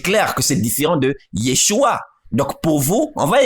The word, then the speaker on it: Yeshua: n'arrivaient pas à prononcer or le sang che qui se trouve dans chibolet se trouve aussi dans Yeshua le son che voyez-vous donc ceci montre par exemple que ce des frimite sur la base de ce texte ne pouvait pas prononcer Yeshua il prononçait donc yesua or yesua ce n'est pas Yeshua est-ce qu'on s'est fait comprendre